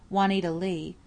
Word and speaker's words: Wanita Lee: I mean she was an actress and used her stage name, Wanita Lee, pronounced like it was spelled plain Lee, but she was mostly called Nita Lee.